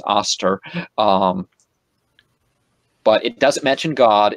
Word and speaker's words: Ishtar: That's how you pronounce Ishtar, is Aster.